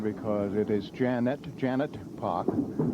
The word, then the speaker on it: Poch: now janice casey and i'll try to pronounce that as clearly as i can because it is janet janet park yes and this lady is j-a-n-i-c-e janus